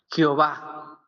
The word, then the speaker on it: Jehová: Si lo hicieron bien, Yahuwah. Yahová. Y como que, pero para mejor pronunciación, mejor lo dejaron como Jehová. Jehová. Jehová, decía. Entonces, desde ese entonces se le empezó a llamar Jehová.